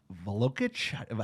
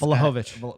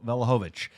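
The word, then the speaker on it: Vlahović: Like a sizable number 9, like Velokic. How do you say the guy's name? It's Vlahovic. Vlahovic at Juventus.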